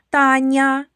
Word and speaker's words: Таня: Таня м'який приголосний Нь перед буквою я.